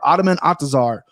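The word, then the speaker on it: Ottman Azaitar: no one really knows who these guys are ottoman atazar minus one's favorite 12-0 13-0 uh what what what are you saying that mispronounced his name no you nailed it but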